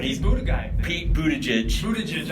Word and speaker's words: Buttigieg: Buttigieg. I don't know how to say his name. His name is Pete Buttigieg. That's it.